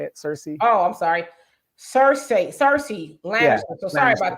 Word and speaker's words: Cersei: He says, wow, she did Sarai Lannister on Boyce.